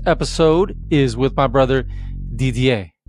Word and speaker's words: Didier: is with my brother DDA I think I said it right it's a French name I've known DDA since